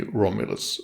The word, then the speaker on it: Romulus: from the Roman mythology there is no real point in going through how to say them in Swedish specifically the English way is very close and I would say that it will more than suffice so basically Romulus will do just fine next we move on